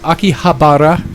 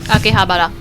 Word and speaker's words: Akihabara: Um, but other than that, Aki, Akihabara, Akihabara, you don't roll your Rs.